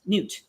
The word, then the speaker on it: Nut: Arianrod, Hera, Newt. It's spelled nut, but it's Newt.